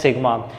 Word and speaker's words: sigma: It is denoted, it is pronounced as sigma.